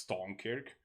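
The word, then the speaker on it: Stonekirk: one i like that the r in strum kirk just went away when you pronounce it so it's just stone kirk i mean it sounds better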